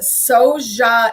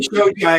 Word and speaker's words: Shojai: I believe she says it Soja. Amy Soja? I've always said it incorrectly. That's not how you say it. Amazing. It is not how you say it. Yay, Amy. Amy Shojai, as I call her, who's not really Amy Shojai.